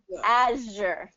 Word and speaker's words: azure: sure there you go azure good i just and make sure it's kind of that friction it's same same as the sh sound but just with the voice okay okay sure so